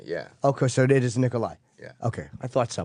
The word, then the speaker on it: Nikolaj Coster-Waldau: it's kind of a kind of an H e sound Nikolai yeah alright Nikolaj coster-waldau I'm saying it right perfect okay the last